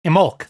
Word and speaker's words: Imbolc: Imolc, that's it. You don't pronounce the B.